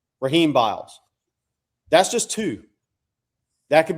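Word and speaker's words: Rasheem Biles: I've been told the S is silent. Raheem Biles.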